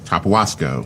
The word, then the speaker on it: Tapahuasco: Tapawasco. Yes. Right. Give me the pronunciation on that.